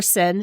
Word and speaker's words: Cyn: just so people know your name is spelled c-yn for sin is no